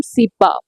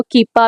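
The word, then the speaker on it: cepa: Onion का scientific name है allium सीपा। कुछ लोग इसको कीपा भी बोलते हैं। जैसे आपको ठीक लगे आप वैसे बोलें।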